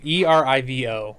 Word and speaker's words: Erivo: Erivo. Erivo. Arrival, yeah, yes.